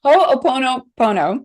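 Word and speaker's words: Hoʻoponopono: minute to teach people how to say it hoopono Pono right okay yeah so I love this one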